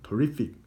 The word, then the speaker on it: terrific: 다음 200번 단어 terrific. 왜 단어가 terrific이 아니냐고요? 배웠죠 여러분? 강세가 이에 있으니까 I가 슈어가 되겠죠. 그래서 발음이 어떻게 돼요? 잘못했어요. I의 강세 있으니까 E가 슈어가 되겠죠.